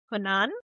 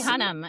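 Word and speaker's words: Hunnam: Charlie Hunan. Yeah. H U N A. Oh, Charlie Hunnham.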